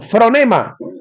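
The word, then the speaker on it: phronema: Pro, perdón, fronema, aunque se escribe con pH.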